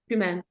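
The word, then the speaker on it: Tyumen: How do you pronounce that? Tumen.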